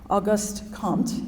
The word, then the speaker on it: Auguste Comte: to create themselves it's the exaltation of self-determination auguste comte and I will tell you I looked on the internet as to how to pronounce that because my husband jokes that if